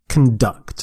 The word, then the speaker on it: conduct: so they're conducting electricity conduct and their stress is on the second syllable conduct you can say if it's a noun conduct conduct is the noun conduct is the verb conduct is to do